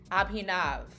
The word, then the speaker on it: Abhinav: It's abhinav. Sorry. Well, you never told me how to pronounce it. Now, now you have Abhinav.